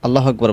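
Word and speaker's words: الله أكبر: অনেকেই আছেন যারা আরবি বিষয়ে তেমন দক্ষ না, তারা আল্লাহু আকবার বলে ফেলেন, অর্থাৎ আল্লাহ ফু ফা উচ্চারণ করেন এখানের মধ্যে। এটা সম্পূর্ণ ভুল, আপনি অক্ষরটা পরিবর্তন করে ফেললেন।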